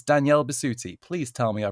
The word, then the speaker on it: Danielle Bisutti: best as Freya from God of War it's Danielle bisti please tell me I pronounced that right you did darling absolutely and